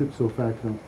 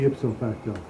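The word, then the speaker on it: ipso facto: the way U that's it so facto what every time you conclude an argument you say itso facto it's supposed to be ipsofacto you're mispronouncing it I am not mispronouncing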